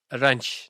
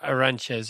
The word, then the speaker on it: Arantes: I'm trying to say it as a Brazilian now. Aranch, not Aranche or whatever as as we would say it as it's spelled.